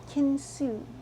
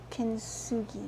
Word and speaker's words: kintsugi: And the Japanese made a movement called kintsugi. I think it's K-I-N-T, which is silent, U-G-I, kintsugi maybe.